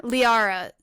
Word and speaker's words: Liara: GIS or how okay I'm going to pronounce this wrong Arya leara Liara the the [ __